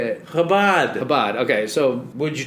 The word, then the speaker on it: Chabad: Can you not disrespect it by calling it Habab? Habab. It's like crazy disrespect to call it Habab. How do you say it? Habad.